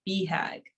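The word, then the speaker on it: BHAG: while preserving the core which is bag pronounced beehag sure for big hairy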